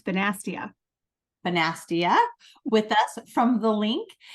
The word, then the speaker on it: Bonastia: how do you say your last name it's basa bastia with us from the link and she is